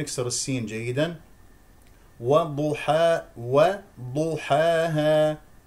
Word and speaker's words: وضحاها: السين جيدا وض حا وضحاها لا تفخم الواو او او الحاء لمجا لمجاورتها الضاد وضحاها وضحا وضحاها واضح وضحاها ولا تستمل الالف وضحاها ها ها هذا